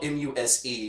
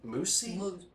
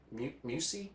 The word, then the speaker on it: Muse: pirate character's name is it's spelled m-u-s-e which i would usually say muse but what was it moosey mucy you see i think it's what they called him yeah yeah it